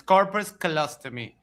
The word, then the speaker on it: corpus callosotomy: So it drastically reduces the I checked because I wasn't sure of the pronunciation, but yes, it's corpus callosotomy.